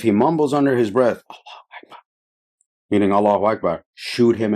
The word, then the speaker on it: Allahu Akbar: He says, if you hear a mumble something, and he didn't even say Allahu Akbar. He said, Allah Akbar. You know what I'm saying? Allah Akbar. Doesn't even know how to say it.